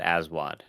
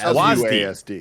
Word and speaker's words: WASD: He calls it ASWAD. I mean, no, he is wrong, because there's not even two A's. Yeah, there's no. Yeah, the second A He's is silent. wrong in every way. But what is right? So you want to say ASWID? it's WASD. It's WASD. ASWAD makes more sense, and you know it. Don't No, it doesn't. The second A is silent.